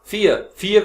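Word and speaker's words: fear: फियर का मतलब डर, आर मोस्टली साइलेंट होता है जो लास्ट में आ रहा है।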